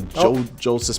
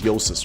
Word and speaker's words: Jousis: joses hello wait it's it's it's not the Jo Jes but it's yosis right yeah I always say yes it is pronounced uses here I will I will press